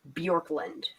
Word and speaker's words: Bjorklund: Ashley's last name is bjorklund oh you're cutting out honey spell that for me b j o r k like Bjork the singer l-a-n-d bjorklund thank you you're welcome